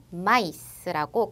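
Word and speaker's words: maïs: 그런데 그렇게 복합적으로 발음하지 않고 각자 따로 발음하기 위해서 구분짓기 위해 점 두 개를 찍어주는 거예요. 그래서 앞에 것은 메라고 발음되지만 뒤에 나온 단어는 마이스라고 각자 아, 이 발음을 다 살려서 발음해 주시면 돼요.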